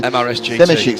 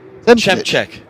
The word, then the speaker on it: Zemček: That's Roman Zemešik, who they're really in the wars, the MRS GT. So that's not how you say that name. Dimkovic. No. How do you say Roman's name? Zemček. Zemček. Okay.